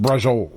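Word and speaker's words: braciole: Yeah, but it's pronounced brazole.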